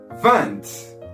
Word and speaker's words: deux: Then take 10 plus 8 is, well done, 18, 19, 20. Repeat after me. 1, 2, don't forget to round your lips.